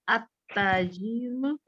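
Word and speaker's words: التاجر: Ya, berarti bacanya bukan al ya. At-tajiru gitu ya.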